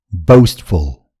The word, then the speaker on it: boastful: कुनै पनि शब्दको पुच्छरमा FUL झुन्डिएर आयो भने त्यसलाई फुल हैन फुल भन्नुपर्छ।